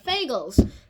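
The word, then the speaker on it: Fagles: reliable at is Robert fagel's fake I just call it figures like rhymes with Bagels because that's one of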